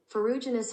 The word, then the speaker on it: ferruginous: This is how you pronounce it. Ferruginous hawk.